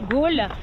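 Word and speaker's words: Galle: Ils prononcent la ville de Gal, Gaul.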